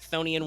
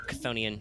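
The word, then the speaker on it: chthonian: had skipped previously a thonian world uh which if you don't know the the thonian or kethonian depending on how you want to pronounce it same as sonic um that is a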